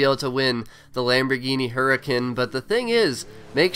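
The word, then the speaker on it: Huracán: the Lamborghini Horizon Edition, the Huracan, or the Hurricane, or however you want to pronounce it. I think the correct pronunciation is Hurricane, but I believe that is all you need to know.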